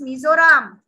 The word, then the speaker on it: Mizoram: is this called ma'am or how do you pronounce this name of the state it is mizoram fifth standard will come and tell stories about